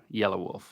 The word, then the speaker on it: Yelawolf: Yelawolf.